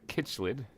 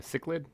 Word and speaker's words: cichlid: There's a kitchlid. A cichlid? Cichlid, I think is how you pronounce it.